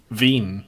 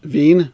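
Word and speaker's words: Wien: but he went to austria vienna or win or however you pronounce that at the austrian club he went over there for a little trial huh veen veen there you go astro v and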